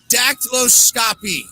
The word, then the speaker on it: dactyloscopy: Through the analysis of loops, whirls, and arches, many crimes are solved via dactyloscopy, which is a study of what? Did I say it right? Dactyloscopy, yeah. I practiced today.